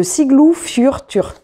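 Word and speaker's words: Siglufjörður: C'est les enquêtes c'est marqué au début, je me suis dit que j'allais vous le prononcer comme c'était marqué, parce qu'ils avaient fait l'effort de marquer comment il fallait le prononcer, de Siglu Fjörtur. Siglu Fjörtur, c'est ce qui a marqué.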